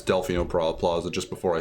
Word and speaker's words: Delfino Plaza: basically the same thing I think Delfino Plaza but just saying dolphino Plaza just saying it wrong but I remembered it's Delfino Plaza just before I said